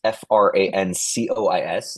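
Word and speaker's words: François: It's f R A N C O I S, not S W A a as I've seen at Starbucks. Uh even though it's pronounced like that, Francois.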